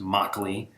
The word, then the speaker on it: Mauchly: of all known that his name is pronounced Mok Li and second of all